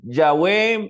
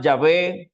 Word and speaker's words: Yahvé: el bf el he podemos pronunciarlo como eh yahwe Jehová yahvé sí Lo importante es